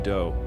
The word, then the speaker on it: Do: This guy Marshall Appawite, but his friends called him Do which rhymes with Joe.